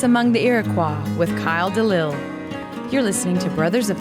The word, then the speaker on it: Delisle: Delisle, that's right.